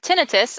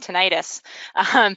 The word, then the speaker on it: tinnitus: with a TBI and tinnitus, I just learned how to pronounce that, by the way, thank you, I was been saying tinnitus.